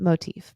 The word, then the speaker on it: MOTIV: applications under s Surplus motive you might pronounce it Motif but I'm American and we make everything sound ugly all right go ahead